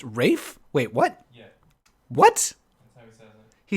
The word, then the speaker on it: Ralph: being a darling Erika isn't Ralph CNAs name pronounced Rafe wait what yeah what